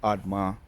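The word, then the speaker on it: Admah: Let's go in and I remember the pronunciations of the Zebo, Admar, and Zo Zohoim. Zeboim, Admma, and Zohar.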